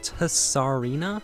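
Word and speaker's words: Tsareena: going to butcher, and I think it's pronounced Tsarina. I'm just going to pretend like the T is silent and just name it Serena for now.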